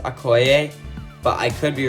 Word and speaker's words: Okoye: So coming in at number 21 is Okoye. Wait, hang on, I gotta look up how to pronounce it. So I looked it up, and I think her name is pronounced Okoye, but I could be wrong on that.